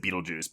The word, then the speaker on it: Betelgeuse: So, but it's spelled with that Betelgeuse, but it's still pronounced Beetlejuice.